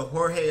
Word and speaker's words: Jorge: And George could be either Jorge as well. It's spelled J-O-R-G-E.